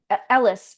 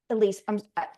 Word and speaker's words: Elise: say oh my god Ellis I'm sorry Elise Elise, I'm so sorry. I was wrong. I said your name wrong.